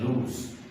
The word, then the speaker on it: lose: Number 2, ये LOSE जिसका pronunciation है लूज, ये वर्ब है, यानी खो देना या हार जाना वगैरह।